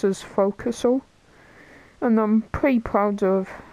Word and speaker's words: forecastle: It's spelled as forecastle, but it's pronounced as forecastle.